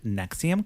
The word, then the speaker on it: NXIVM: So, the movie we're talking about today is Escaping the Nexium Cults. Nexium, if you're going to like search for this at home, it's spelled NX I VM, all caps.